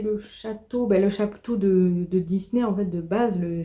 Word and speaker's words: Disney: Voilà, ça se prononce Disney, du coup, forcément en anglais.